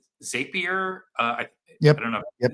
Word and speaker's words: Zapier: But it's something that I think, like, if you've ever used something like Zapier, Yep. I don't know. Yep. Yeah, that's how it's pronounced.